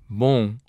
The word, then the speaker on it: bom: means good, and that in pronouncing it, you do not close your lips on the final M. This is true for all words in Portuguese that end in M. The final M in Portuguese serves to nasalize the preceding vowel.